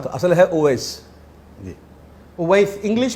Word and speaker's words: Owais: جی ओवैस, English में इसकी spelling बनेगी OWAIS।